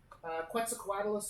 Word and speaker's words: Quetzalcoatlus: Quetzalcoatlus also huge. That's a great pronunciation.